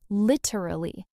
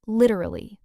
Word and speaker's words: literally: The correct stress is actually on the first syllable, lit-er-al-ly. And in fast speech, it becomes lit-er-al-ly, three syllables. Lit-er-al-ly. Okay, so once again, a syllable just compresses and disappears. It's kind of the theme of this episode, honestly. English speakers move fast, and they compress sounds. The key is always the stress. Lit is the strong syllable. Everything else gets softer and shorter.